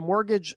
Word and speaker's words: mortgage: Mortgage is kind of a funny word, you know, the just the the spelling of it. it it's um I'm trying to think are there other words in the English language um that have a silent T in the middle of them and I don't think